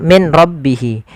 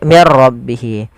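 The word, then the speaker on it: مِن رَّبِّهِ: Apabila ada nun sukun bertemu dengan ra, maka di sini jangan dibaca min rabbihi, tapi diganti menjadi mir rabbihi.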